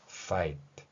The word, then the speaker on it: fight: 앞에서 might, sight 이렇게 발음하듯이 이 소리는 윗니로 아랫입술 물고 fight 이렇게 발음한다는 것이죠.